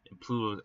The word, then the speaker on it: Plato: Plato said, I believe it's pronounced Plato. I don't know why I said Pluto, but Plato.